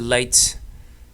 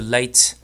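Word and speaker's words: Leyte: And so it's possible there's only one Philippine eagle on the island of late L E Y T. I think it's pronounced late.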